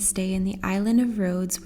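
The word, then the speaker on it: Ρόδος: in the island of rhodes which is pronounced rodos in greek i've decided to explore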